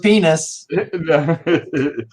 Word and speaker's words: Ennis: and it's also Garth Ennis kind of gears towards toilet humor sometimes, and maybe more slapstick at times. His name rhymes with penis.